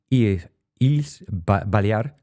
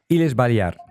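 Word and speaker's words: Illes Balears: Es profesor de la Universidad de las Ils Balear, no sé si lo estoy pronunciado bien. Es miembro es Balear. Iles Balear. Muy bien.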